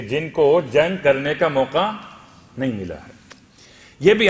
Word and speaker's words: موقع: ان کے نام کا تلفظ یا ان کے نام کا جو وہ کیا گیا، وضاحت کی گئی، وہ موقع بن سمامہ سیداوی اسدی۔ موقع میم واو قاف اور عین، اختلاف مرقع میم رے قاف عین۔ یہ 7 محرم